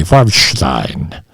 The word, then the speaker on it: Farbstein: I'm pronouncing it the German way, Farbstein.